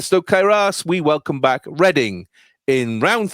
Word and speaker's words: Reading: And last into the fryer tonight, it's Reading. Oh, shit, I don't know this. Or Reading, if you pronounce it wrongly.